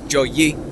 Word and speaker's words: Joey: Joey.